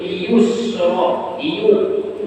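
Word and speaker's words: اليسرى: Hati-hati kita selalu bacanya, mirip nih bunyi ayatnya nih. Nah, pemulaan fasanuyassiruhu lil yusra, yusra mudah. Yang kedua fasanuyassiruhu lil usra, usra.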